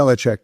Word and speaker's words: Belichick: Bill Belichick, is that how you pronounce it? Belichick, yeah.